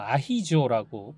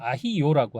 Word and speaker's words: アヒージョ: 아, 여기 이제 일본에서는 아히조라고 발음을 합니다. 예. 한국에서 아히요라고 하고요.